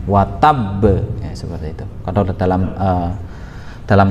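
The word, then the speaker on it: وَتَبَّ: Di sana ada tanda tasydid yang tekanannya itu enggak seperti pada ayat biasa, pada huruf-huruf seperti pada sesudahnya, tapi dia lebih ada penekanan. Watab, ya, seperti itu.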